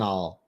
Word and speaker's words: colonel: front of you that's absurd and ridiculous Colony Colonel it's pronounced colonel we're good to go and this